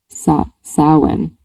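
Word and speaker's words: Samhain: Rhymes with our or how. Sa sin.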